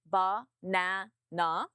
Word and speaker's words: banana: Did you say banana or did you say banana? Banana. Using the correct syllable stress will instantly make you sound more natural.